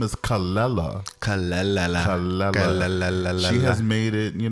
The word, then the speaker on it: Kelela: I love a newbie too her name is calella she has made it you know know that that is how it's pronounced people would normally pronounce it khalila oh see or Canada or someone else on